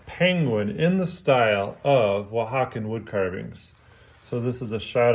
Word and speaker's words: Oaxacan: where they come from, we say Oaxacan, so we just add an N to it. I am going to do a little demonstration here of a penguin in the style of Oaxacan wood carvings.